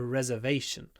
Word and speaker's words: reservation: table is reserved uh the most difficult thing here is to remember where to put the stress reservation reservation so we have a long ver reservation but re reserved reserved reserved along for the second syllable reservation reserved reservation reserved